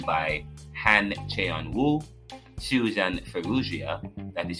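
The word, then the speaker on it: Farruggia: and retention written by Han Chan woo Susan fuia that is spelled f a r r u g g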